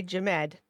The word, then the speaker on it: Jamed: Anybody that doesn't know, formerly Jamie, formerly Jameer, now goes by Jamed. That's spelled like Ahmed with a J, just if anyone was curious.